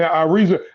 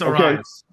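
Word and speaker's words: Arráez: And Ariza, how do you say a damn name? That Ariza dude. Ariaz or whatever. Oh, Luis Arias.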